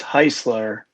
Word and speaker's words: Hueisler: my last name is heisler it rhymes with chrysler i remember it a